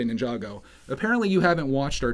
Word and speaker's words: Ninjago: Everyone calls it Jago. Come on, it's just one more syllable to say Ninjago.